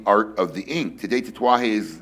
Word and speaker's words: Tatuaje: The most incorrectly pronounced probably name in the cigar industry. Tatuaje. All right, Tatuaje, which is